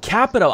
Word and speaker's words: Capito: back hey Mike and that's Shelley Moore Capito actually capital i've been pronouncing that wrong forever what everybody mispronounce is